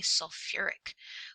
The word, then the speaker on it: sulfuric: in three it says change the root if necessary for pronunciation sulfi oh it bothers me so we actually say sulfuric that sounds scary right